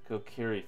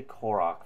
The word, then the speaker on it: Kokiri: with them would be kokiri forest yes said it right I always say that wrong I always say Korach forest in my mind always oh come on